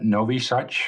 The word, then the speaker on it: Nowy Sącz: The beginning of the film starts in Novi Sad, which probably you pronounce a lot better than I would.